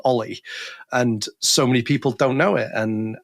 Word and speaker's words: o11y: was like yes it's olle that's you know you just say Ollie where all of our